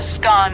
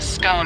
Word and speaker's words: scone: the pronunciation of scone both scone rhyming with gone and scone rhyming with bone are accepted pronunciations though Regional Vari exist